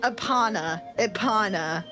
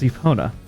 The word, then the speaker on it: Epona: I was like, Ipana.